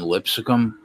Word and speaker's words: Lipscomb: I thought about betting Lipscomb, but I wanted like 21, not 26. Lipscomb? If they would have, yeah, Lipscomb, whatever, bro. You're adding a syllable there, dude.